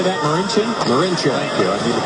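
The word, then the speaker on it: Marinčin: Marincin?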